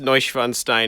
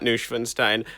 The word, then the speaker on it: Neuschwanstein: oh god oh geez it's pronounced neuschwanstein it's not nushfenstein i feel like a idiot please please forgive me